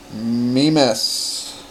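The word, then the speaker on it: Mimas: Mimes, I believe, is the correct pronunciation.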